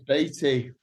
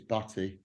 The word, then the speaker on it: Baty: hello is it Beatty or is it Beatty or batty it's Betty I was I was